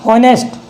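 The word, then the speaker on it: honest: ओ क्या है यहाँ पे? वोवल। क्या है? वोवल। तो ये एच साइलेंट हो जाता है।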